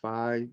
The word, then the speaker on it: phi: P-H-I, some pronounce it phi. The proper pronunciation in Greek is phi.